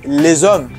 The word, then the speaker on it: les hommes: So, for example, the men was pronounced as les hommes, the men. The S is activated and changes to Z.